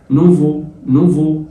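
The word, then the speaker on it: nouveau: نوفو الاي والاي واليو زي ما اتفقنا بتتنطق او تبقى بو او نوفو يعني جديد.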